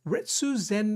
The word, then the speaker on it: Retsu: Retsu Zen, he rhymes with Ken, and Ken is one of my guys in Street Fighter.